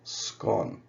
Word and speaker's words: scone: see on this map in Northern Ireland and for most of Scotland it's pronounced scone now there's a a strong showing of The um you know the version scone in the south and west of Ireland also in the British Midlands and around the Thames Estuary you can see it's usually pronounced scone there now there was a